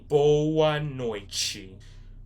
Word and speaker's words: boa noite: So yeah, this is how you would spell it. B-O-A space N-O-I-T-E. Boa noite.